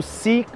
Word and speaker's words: si: O outro também que a galera se rola muito quando tá escrevendo é o si se s e o si. Se escreve diferente, mas a pronúncia é a mesma, ok?